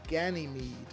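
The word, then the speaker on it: Ganymed: from the late 70s called operation ganime even though it's spelled as gny Med because I guess in German they don't put the E on the end uh a movie that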